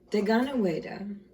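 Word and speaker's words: Deganawida: Deganaweda, pronounced De, G-O-N, Gon, Weda, W-E-D-A, the is for the A, is also the pale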